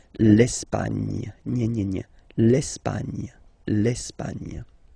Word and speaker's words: l'Espagne: Okay, don't insist on the final E because basically it's not pronounced. L'Espagne.